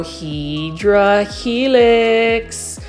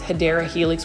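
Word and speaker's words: Hedera helix: of like similar to when I try to grow hedra helix or what I would call for my newer um viewers the correct way to say it is hadera Helix which is in English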